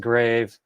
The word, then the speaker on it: grave: So that's TY and that's I believe it's pronounced grave unless you're on a on a boat and then it's a grav boat and yeah that's an interesting one.